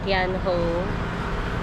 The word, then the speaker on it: Thean Hou: So, yun pala yung tamang pronunciation niya. Tianho Temple.